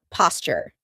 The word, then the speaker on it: posture: Notice how I pronounce it, posture. That's because a t and a y sound together make a ch sound like in Tuesday and tuna.